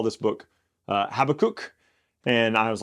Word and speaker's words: Habakkuk: So I've always been taught Habakkuk, but I was telling Colin that in college I heard somebody call this book Habakkuk, and I was like, that kind of sounds fun.